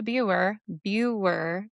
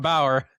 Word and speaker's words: Buer: Thank you for everybody who's listening, and reach out to me, Buer, Peter. Not Bauer.